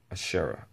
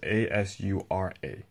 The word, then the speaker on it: Asura: Pretty much, you find out that Naruto is pretty much a reincarnation of his son, Ashura. I think that's how you pronounce it. Ashura. It's Asura.